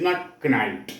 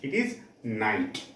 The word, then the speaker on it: knight: Here, the letter as per English language, K is silent. It is not knight, it is knight.